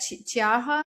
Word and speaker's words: Cheaha: Cheaha, the one in Cheaha, Cheaha, yeah.